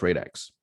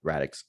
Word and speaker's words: Radix: triggers you to launch rate x or radix excuse me i'm going back to pronouncing it with how i used to pronounce it uh what triggers